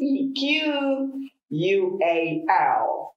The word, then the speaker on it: equal: equal equal not equal you don't round your mouth there because you are e for the strength in the first syllable let's see what the